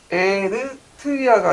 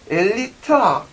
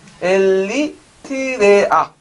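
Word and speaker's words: 에리트레아: 아, 제가 좀 이게 외국어 발음이라서 에르트리아가 아니라 엘리트라. 정확히 써야지 또 나중에 요거도 먹어. 네. 이게 정식 국명이에요. 네. 그래서 에르트리아가 아니라 엘리트라. 네. 엘리트레아.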